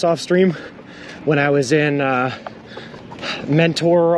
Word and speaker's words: Mentor: when I was in Mentor, Ohio, or Menor, Ohio, however they pronounce it. Don't pronounce the T, it's stupid. Why even put the T in there if you're not going to pronounce it?